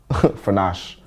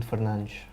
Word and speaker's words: Fernandes: The only thing that will make me feel bad about Bruno right now is if you say his name in Portuguese. Fernandes. Bruno Fernandes.